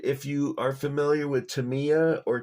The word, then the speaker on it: Tamiya: And if you are familiar with Tamiya or Tamaya, depends on where you're from, how you pronounce it. I pronounce it Tamiya, but I've also heard it called Tamaya. And I guess in Japanese it's Tamiya.